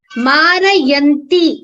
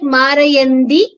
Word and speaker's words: मारयन्ति: Marayanti. It sounds like Marayandi. You have to consciously pronounce it clearly as Marayanti and not Marayandi.